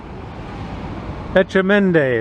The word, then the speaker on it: Etchemenday: Etchemenday, that's how you say it.